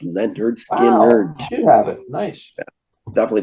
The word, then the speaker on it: Lynyrd Skynyrd: rich already touched on it's pronounced Leonard skin nerd you have it nice